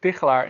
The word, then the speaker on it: Tigchelaar: And first of all, I'm impressed how you pronounce my last name because that's not easy. But yeah, my name is Tichelaar indeed, and I'm a psychologist, and I'm severely